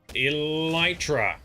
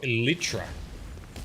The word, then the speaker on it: Elytra: Alright, and then we also learnt last session how to pronounce Elytra, which is what these things are called. Elytra, not Elytra, as I was calling it.